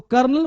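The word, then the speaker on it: colonel: तो कर्नल को लिखते हैं कोलोनल, अब पढ़ते हैं कर्नल।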